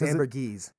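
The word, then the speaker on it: ambergris: Amber grease Amber gese have we figured out how to pronounce that is it Amber gree or Amber it's Amber gese okay well it's spelled with an R right but which is weird it's French so you have to drop the r right fren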